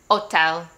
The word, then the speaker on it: hotel: so for this one we don't really pronounce the h as like a ha we just pretend like it's silent most of the time so we're going to